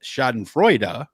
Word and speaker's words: schadenfreude: it makes sense that schadenfreude which is the actual german pronunciation uh means joy over